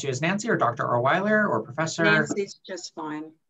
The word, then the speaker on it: Olewiler: prefer me address you as nancy or doctor orweller or professor he's just fine okay excellent and you pronounced my last name correctly too which oh